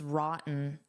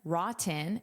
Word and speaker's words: rotten: I can say rotten, rotten, and pronounce those Ts, or I can use a glottal stop, which sounds like rotten, rotten, which native speakers often do.